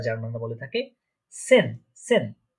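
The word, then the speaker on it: zehn: এই যে দেখছেন এখানে জেড, জেডটা আমরা আগেই বলেছি এটা স বা সি এর মতো উচ্চারণ হয় বা এস এর মতো উচ্চারণ হয়, এটার প্রোনাউন্সিয়েশনটা অনেকটা। ঠিক আছে, তাহলে এটা উচ্চারণ কি হচ্ছে, প্রোনাউন্সিয়েশনটা সেন।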